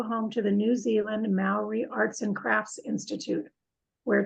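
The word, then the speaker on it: Māori: out it's pronounced Mal like mouth so the sound you make when you say mouth so it's and then reality Maori Maori Maori pronounce like now too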